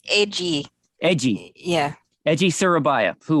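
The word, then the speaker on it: Eiji: Honda and uh ejai egai how do you pronounce his first name I don't want a massacre yet um it's edgy edgy yeah edgy Surabaya who was the master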